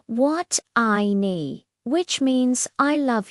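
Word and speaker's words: 爱: This is pronounced I. It's a verb. For example, you can say what I need, which means I love you.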